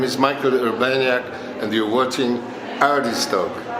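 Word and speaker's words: Michał Urbaniak: Michal Urbaniak, am I saying it right?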